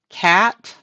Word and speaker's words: cation: And this thing is called a cation. So you pronounce this, that first, then this. So cation is how that's pronounced.